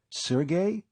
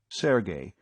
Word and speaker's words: Sergey: she'd been playfully pinched Sergey you mean Sergey pvic the fiend of Florence she pronounced the name properly Sergey instead of Serge as too many people were prone to do sounds like the